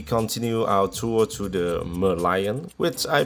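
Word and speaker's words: Merlion: our tour to the mer lion which I pronounced wrong so many times totally forgot it has a head of the lion that's why you will speak it as the Merion and not meran no more rain for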